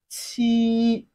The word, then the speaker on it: 七: 7 in Chinese is pronounced as qi. Repeat once you hear. Qi. It has a flat tone, which is the first tone of Chinese language.